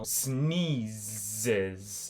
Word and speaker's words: sneezes: Quando você fala aqui, ó, snees, você pronúncia o Z também. que tá aí. Você fala sni Z, a letra Z faz zes.